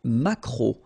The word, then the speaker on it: maquereau: T, la truite, le maquereau, so technically this K, just pronounce it K, mac, maquereau, maquereau, alright, and then E, A, U, remember when you combine these three vowels, you get the sound O, maquereau, okay, and then